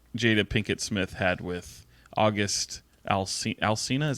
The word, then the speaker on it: August Alsina: uh was what Jada Pinkett Smith had with August Alsina is how you say his name anyway he